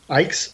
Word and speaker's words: Icke: Ike's? Yeah, Okay, Ike thank like bike.